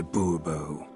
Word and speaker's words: Bourbeau: Fine. Monsieur de Bourbeau. The emphasis falls on the last syllable.